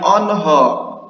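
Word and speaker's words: آنها: Onho ini tuh kalau ada tanda ini di alif, tanda mad jaiz ya. Ini tuh dibacanya o. Jadi ini dibacanya onho, onho, onho.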